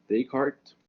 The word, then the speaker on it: Descartes: 9 by the textbook which is rene descartes descartes so where you pronounce it not the cart it's a sprint